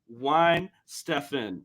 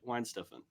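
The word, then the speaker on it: Weihenstephan: Like I said, it's pronounced Wine Stefan. That's how you say it. Wine Stefan.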